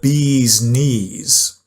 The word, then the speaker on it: bee's knees: And one of my favorite ones is it's the bee's knees, right? B as in knee as in this part of your leg. It's the bee's knees pronunciation. Bees knees. It's that long vowel sound.